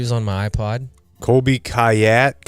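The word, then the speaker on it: Caillat: Colby Kayat. How do you say it? Colby Calais.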